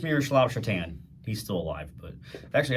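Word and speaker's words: Šatan: So, somebody tried to order a Miroslav Shatan jersey off of Fanatics, and his last name is spelled Satan.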